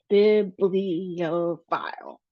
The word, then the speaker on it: bibliophile: and then we have the stress at the beginning of the word at the B as well as at the F sound, so the P H sound. Bibliophile.